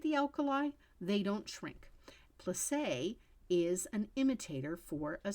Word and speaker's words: plissé: This one is called plissé, Plisse, with a little accent on it.